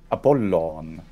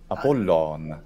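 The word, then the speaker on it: Ἀπόλλων: Apollon. Apollon. So there is an N. And, yeah, there's an N, and the N is usually taken away in Latin, so just Apollo.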